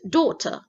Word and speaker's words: daughter: ডটার বাংলায় বলি, it's daughter, British English. So daughter, এটা American English. So our eldest daughter, আপু আপু আমেরিকানটা আরেকবার বলেন। daughter, daughter, daughter, ওরা বাবলের আগে টিটাকে ডি উচ্চারণ করে, daughter, daughter.